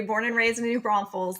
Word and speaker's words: New Braunfels: and raised in New Braunfels there's no s in the middle there we go from the locals yep thank you Michelle